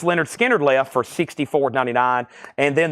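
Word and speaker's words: Lynyrd Skynyrd: of analog Productions I've got one Leonard Skinner pronounced Leonard skinnard left for $64.99 and then the newest release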